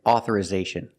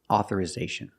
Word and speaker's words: authorization: Authorize and authorization. Remember with authorization, the i makes a short sound ih, like this is. We don't say authorization, it's authori- ih, authorization.